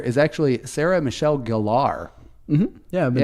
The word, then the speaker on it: Sarah Michelle Gellar: the English name yeah you know another commonly mispronounced celebrity name I found out that Sarah Michelle Gellar is actually Sarah Michelle Gellar mm-hmm yeah saying that since like 95 oh